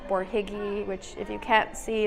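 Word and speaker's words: Borhegyi: the museum's website or just google stephen f bourjiggy which if you can't see is spelled b-o-r-h-e-g-y-i look him up he's a very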